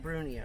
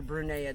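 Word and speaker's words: brunnea: This is Gyrometra brunea, or brunea, depending on how you want to pronounce So it.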